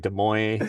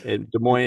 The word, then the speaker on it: Des Moines: You're like, what is it like Des Moines? Des Moines is all that people can like remember. Like that's it. That's the Maybe. right now. Well, people always mispronounce it because it's French.